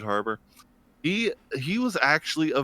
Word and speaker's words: Harbour: really think David har I probably say his last name wrong David haror har harer Harbour yeah David Harbor he he was actually